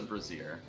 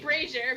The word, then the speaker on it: brazier: That's a brazier. I'm gonna get behind that sexy Okay. brazier. I think you mean brazier, but yep.